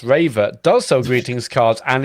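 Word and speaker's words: Rewe: two my local supermarket Rue pronounced raver does sell greetings cards and is open till 10 p.m.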